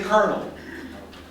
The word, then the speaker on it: colonel: a general he's a Col we would say colonel colonel in English it's Colonel now where do